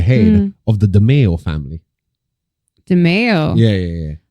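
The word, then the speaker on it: DiMeo: DeMeo? Yeah. Oh, like DeFeo. So DeMeo, literally the only difference between DeMeo and DeFeo is the M and the F.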